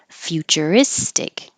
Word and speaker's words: futuristic: it a single word future istic and this fyu sounds just like few a few of them